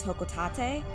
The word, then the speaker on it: Hocotate: I am going to be pronouncing it Hocotate. I know there's a little bit of debate. In the Japanese version, I believe it is Hokotate. I think that probably is the more correct version, but I think, at